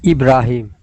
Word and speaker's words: Ibrahim: Is it Ibrahim or Ibrahim? Ibrahim. Okay, with the accent on the A.